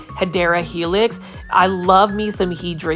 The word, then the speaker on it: Hedera helix: The correct way to say it is Hedera helix. For those that are new to the channel, I mispronounce it by saying Hydra helix because it is a Plantfoldy inside joke.